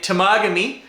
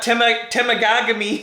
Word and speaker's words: Temagami: So, you know, my experience happened in Temagami, which this guy totally butchers every pronunciation for this area. It's not Temagami, it's Temagami and Algonquin Park.